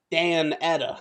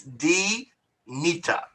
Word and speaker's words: Danita: She just spelled it Dan Etta. Dan Etta. Oh. It's D-Nita.